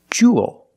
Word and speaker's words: jewel: It's pronounced the same as cool and pool. You have the long oo sound plus the dark L. There's no extra vowel. It's not jewel, it's jewel. Like pool and cool.